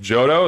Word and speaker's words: Giotto: Pronounced Jodo.